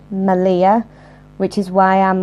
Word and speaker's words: Malia: Now, reading that, you're probably thinking, oh, that says Malia, just like the place in Crete. No, it doesn't. It's pronounced Malia, which is why I'm like, do I put an extra L in there or not?